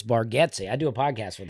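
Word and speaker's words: Bargatze: Well, I' I've been told that. I've been saying it wrong. Apparently it's Baretti.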